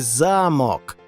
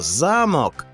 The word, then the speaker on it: замок: зручні і почнемо ось казковий замок але якщо перемістити наголос на другий склад то замок перетвориться на замок а це смачний обід